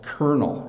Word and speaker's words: colonel: and this is pronounced kernel it's actually pronounced uh the same way as like a kernel of corn um so kernel is